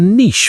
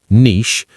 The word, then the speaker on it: niche: Niche, that rhymes with quiche, and niche, that rhymes with witch.